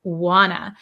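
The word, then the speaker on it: wanna: wna I Wana so when we say want to we shorten it to Wana um so I think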